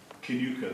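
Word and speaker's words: Kilconquhar: Then I live near a village which is called Kinuka, though it's spelled Kilconquer, so anyway, the blunt monosyllable God all too easily gives a double wrong impression.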